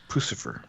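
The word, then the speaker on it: Puscifer: Pucifer? How do you pronounce it? Pucifer.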